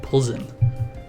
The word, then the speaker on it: Plzen: But at least now I know it's the Victini Plzen. Like, whatever. I don't know how you would get that pronunciation from this.